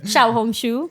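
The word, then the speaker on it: 小红书: was that we are um not creating a Shia hong shu account a what red not what did no what did you just call it xia hong shu is that how you say it in in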